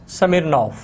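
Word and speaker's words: Smirnov: अब ये देखें, इसमें भी जो है वो वी है लेकिन हम इसको नॉफ बोलेंगे। नॉफ जो है वो नहीं बोलेंगे क्योंकि रशियन के अंदर जो वी है वो फे की साउंड जो है वो क्रिएट करता है।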